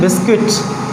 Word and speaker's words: biscuit: दूसरा जो है, जैसे ही आप लिखते हैं बिस्किट, what is this? बिस्किट। यहाँ पे जो U आ रहा है ये क्या है? Silent, BISCUIT। बिस्किट में जो U आ